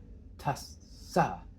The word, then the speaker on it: tassa: When you get a double consonant in Pali, you really want to pronounce both of them.